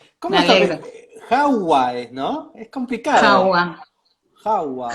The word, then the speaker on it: Jaua: Jawa, Hawái. Jawa, sí. Bueno, es complicado porque es raro, pero en realidad se pronuncia tal cual se escribe.